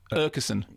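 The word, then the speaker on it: Aakeson: The double A sounds almost like a O, okay, and is in fact the same as the strange letter A with a little circle on top, which only exists in Scandinavia.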